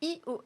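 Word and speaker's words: /e/OS: hein il y a aussi iOS ça s'écrit eos et là c'est un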